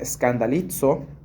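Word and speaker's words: σκανδαλίζω: Escandalizarse viene de una palabra que se pronuncia scandalizo y tiene que ver con la idea de abandonar, de rechazar, de desconfiar.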